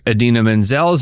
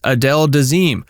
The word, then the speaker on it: Idina Menzel: In a lighter yet cringeworthy moment, John Travolta famously mispronounced singer Idina Menzel's name as Adele Dazeem while introducing her performance of Let It Go from Frozen at the 2014 Oscars.